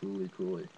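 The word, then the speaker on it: FLCL: It's pronounced Fooly And that's another anime that's got a large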